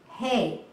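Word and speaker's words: heh: you what that letter hey means in our Hebrew okay and usually it's spelled h-e-h but you say it just like hey that you feed an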